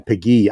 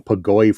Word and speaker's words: Péguy: Thank you for correcting me on Péguy. I've been calling him Pagoy for the last 3 decades of my life.